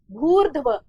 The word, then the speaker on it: भूर्ध्व: शब्द का उच्चारण क्या है? भूर्ध्व। र की जो ध्वनि है वो भ के बाद आएगी, न कि धनुष वाले